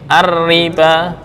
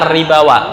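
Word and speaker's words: الربا: Kalau rosem Utsmani di Al-Qur'an ditulis begini, ar-riba. Seolah-olah ar-ribawa bacanya. Yuk kita cek di Al-Qur'annya seperti apa. Jadi wawunya nggak dibaca.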